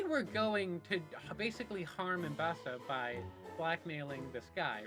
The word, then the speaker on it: Ambessa: Also, I understand I've been pronouncing Ambessa's name Ambessa and Ambessa. It's Ambessa. I don't know why I pronounced it the other way.